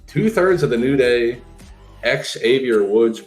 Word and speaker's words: Xavier: of the new day Xavier woods make sure you pronounce the X and Big E is